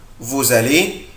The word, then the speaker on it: vous allez: vous allez. vous بنطق الاس هنا طبعا زد.